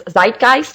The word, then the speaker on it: Zeitgeist: A great movie that I had the privilege of seeing recently was Zeitgeist.